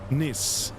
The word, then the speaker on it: Nice: It's pronounced Niss N.